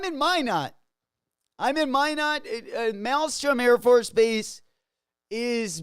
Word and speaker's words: Minot: weeks and every time they always butcher the town that where I live in they always call it Minot it's called Minot um but yeah they